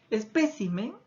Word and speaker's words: espécimen: Luego tengo lo siguiente, por ejemplo, espécimen y especímenes. Cómo ha cambiado la posición de la sílaba tónica en esas palabras.